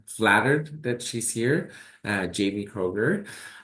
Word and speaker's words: Kroeger: I'm very flattered that she's here, Jamie Kroeger. Am I saying it right? It's Kroeger, right? Yep.